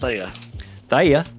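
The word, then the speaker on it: Thaye: funny funny fact yeah it's pronounced Thea th well that just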